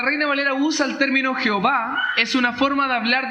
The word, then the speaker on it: Jehová: que son distintas vocales lo que posteriormente se pasó a pronunciar como yahová y yahová al español se transmite era como Jehová o sea en pocas